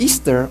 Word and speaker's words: Ishtar: Ishtar, which is pronounced Easter, of the Assyria, was worshipped in pagan antiquity during her special festival.